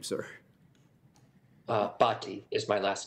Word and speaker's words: Bhatti: how do you say your name sir uh bti is my last name okay thank you Dr